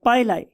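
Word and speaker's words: pili: का नाम होता है पाइलाई। बहुत से लोग इसे पिली भी बोलते हैं, लेकिन मेरियम वेबस्टर डिक्शनरी के प्रोनाउंसिएशन के मुताबिक ये पाइलाई है, राइट।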